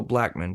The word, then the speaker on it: Blackmon: no, instead of saying like you would say that's still Blackman pretty much, even though it's O-N.